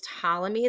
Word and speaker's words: Ptolemy: uh nicolas copernicus claudius ptolemy the p is silent galileo galilei and johannes